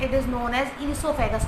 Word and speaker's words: oesophagus: Listen the pronunciation carefully, the spelling starts from O but actually O is silent, it is known as esophagus not oesophagus, okay।